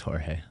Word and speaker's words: Jorge: spanish um jorge drexler i think it's jorge nice i i had been saying it george for a while but i'm like hey this is probably jorge it's probably yeah yeah it's just spelled with a j yeah yeah all right